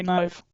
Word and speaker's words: knife: Similarly the K in knife is also silent. Right. We say knife.